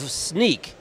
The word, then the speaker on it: Snyk: Welcome, he's the CEO of Snyk. Not spelled like sneak, you'll see it on the lower third.